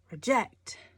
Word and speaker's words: reject: one reject or reject this one emphasis is on the second syllable reject reject reject so does that mean